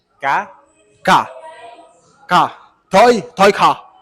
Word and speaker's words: cá: Fish, ka? Ka. Ka. Fish, you say? Cá.